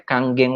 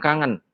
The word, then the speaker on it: Kangen: nama airnya Celine namanya Kang geng water ya Jadi Bapak Ibu sekalian dan juga sahabat-sahabat ini dibacanya Bukan Kangen ya kalau kangen mah rindu ya saya tadi ngobrol